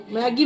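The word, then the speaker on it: Maggi: তবু এখন তো অনেকটা ম্যাগিটা উচ্চারণটা হয়েছে, যে অন্তত ম্যাগি ব্যাগ বলছে। 2 দিন আগে তো মাগি ব্যাগ বলছিল।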